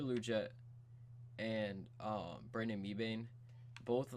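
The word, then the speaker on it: Liuget: People pronounce it very Canadian, but Corey Luget and Brandon Mebane, both a little bit on the older side.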